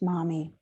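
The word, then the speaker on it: momme: Mami is a Japanese unit of weight, 3.75 grams, used to value loose or stringed pearls, pronounced mami.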